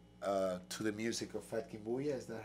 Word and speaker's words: FatKingBulla: because the love uh to the music of fat Kim buya is that how you say it that's right